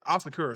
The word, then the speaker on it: Asakura: Did I say his name wrong at the beginning? Yeah, Asakura.